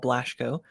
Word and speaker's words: Blaschko: and theology today I'm joined by Dr blashco I hope I'm saying your last name correctly